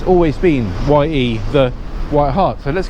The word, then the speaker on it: Ye: to be called Ye, well, it's pronounced the White Hart, so it's now just called White Hart.